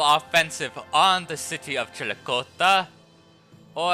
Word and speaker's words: Chillicothe: on the city of Chillicothe. Or, I believe in Shawnee it's actually pronounced Chillicothe.